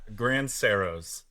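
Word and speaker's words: Grandserows: Grand Ceros.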